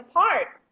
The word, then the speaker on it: park: Okay, students, okay, parak is a very different pronunciation. So why don't we pronounce it like a park? Okay, or a park?